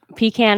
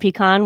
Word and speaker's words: pecan: yeah aren't you smart apricot or apricot um that one is kind of like your pecan and pecan where I could go either way like one just doesn't